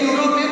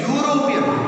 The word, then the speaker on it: European: Here also e vowel letter it is there, but the pronunciation it is not the vowel sound. Here we are saying European. U is not the vowel sound. That is the reason we have to say a European.